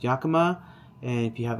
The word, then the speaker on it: Yakima: So Rivian sells an adventure key set that you can utilize with, it's pronounced Yakima.